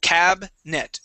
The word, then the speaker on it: cabinet: word cabinet all right we wouldn't say cabinet cabin cabinet we would uh skip right over that I cabet cabinet try that cabinet